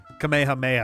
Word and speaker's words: Kamehameha: Wasn't uh wasn't Kamehameha the the final like queen of Hawaii? Or maybe it wasn't Kamehameha the first. Kamehahha I think is the is the Hawaiian pronunciation.